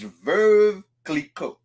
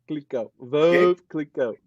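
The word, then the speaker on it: Veuve Clicquot: You go and you trying to use a V word. Is verve. Verve. Which means widow. Is verve clicquot. Verve clicquot.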